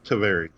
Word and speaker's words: Tavares: store is in, I always say it wrong, Tavares? Tavares.